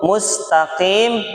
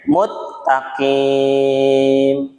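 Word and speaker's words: مستقيم: Mislu, contoh, mustaqim dibacanya muttaqim.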